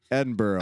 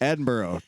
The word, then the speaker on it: Edinburgh: if it was uh if it was located in Pennsylvania it'd be Edinburgh and Greensboro so yeah